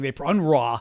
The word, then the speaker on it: UNRWA: Well, one agency, I believe it's UNRWA or UNRWA or something. UNRWA, they pronounce it, but it's basically, thank you, Blue.